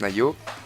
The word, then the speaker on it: Naio: Tac, on tombait sur le forum Nayo, donc N-A-I-O bien entendu, comme ça se prononce, Nayo.